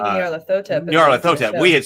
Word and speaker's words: Nyarlathotep: So yeah, we had thought about different pronunciations for that, but I had always, like, when I was writing Journey to the Tree of Sorrows and everything else, we'd always said Nyarlathotep. You could say Nyarlathotep.